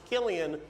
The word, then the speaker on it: Cillian: Cillian is... Interesting fact about his name, it's pronounced Killian when he does drama. When he does comedy, it's Cillian.